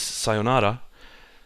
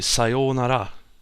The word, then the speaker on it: sayonara: A classic word that Japanese word that everyone knows, even if you're not Japanese, is sayonara, but it's actually sayonara, because the o, sayo, is a long.